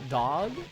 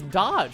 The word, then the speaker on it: dodge: It's pronounced dog? No, it's not pronounced dog. Stop. It's dodge.